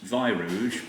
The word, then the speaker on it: Weirouge: It's pronounced Weirouge, but it's actually spelled with a W.